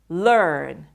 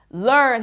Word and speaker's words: learn: Learn. Learn 할 때 이제 중간에 R 발음이 들어가니까 혀가 약간 올라가게 되기는 하거든요.